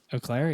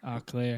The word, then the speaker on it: Eau Claire: you're a big uh how do they pronounce theirs is it Eau Claire Eau Claire yeah yeah talking about the donut that's an eclair oh and Michigan's Michigan's Eau Claire is oh Claire oh clear spelled the exact same